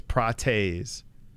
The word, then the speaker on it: Prates: I feel like it's Prates.